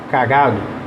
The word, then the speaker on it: cagado: né então repara quando eu falo a palavra cagado cagado a sílaba tônica é o gato vejam aí eu